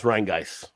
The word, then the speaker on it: Rheingeist: It's Rheingeist.